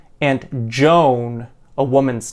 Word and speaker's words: Joan: man or a woman students learning english often pronounce both these names very similarly or many times even exactly the same by pronouncing both as joan which is the long o used for the woman's name joan however this is not true for the man's name john a little bit of